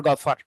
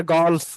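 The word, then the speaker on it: golf: হচ্ছে বিশ্বের এক নাম্বার গফার ঠিক আছে গফার যেটাকে আমরা গলফ বলি গলফার বলি আমরা একচুয়ালি ওটার উচ্চারণ হবে গফ আমরা বলি গল্ফ মানে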